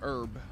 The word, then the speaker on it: herb: Evil green green herb green herb cuz pretty much the H is silent let's get one of